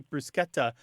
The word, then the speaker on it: bruschetta: It should be more like the SCH in school or scheme or the American pronunciation of schedule. And I think if people think of those SCHs, then they won't feel like they need to turn it into the sh sound.